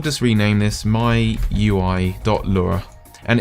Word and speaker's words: Lua: language doesn't have it in capital letters It's pronounced Lura but uh yeah if you mention this in